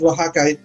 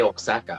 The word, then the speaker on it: Oaxaca: Is that how you pronounce it? I heard. Yes, Oaxaca. There is a state. Yeah. Sometimes I say Oaxaca.